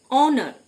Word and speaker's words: honour: অনার, HONOUR, অনার মানে সম্মান, প্রথম এইচটি সাইলেন্ট।